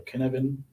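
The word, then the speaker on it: Cynefin: called the the the kinevin framework um i'm pronouncing that right as welsh so that things can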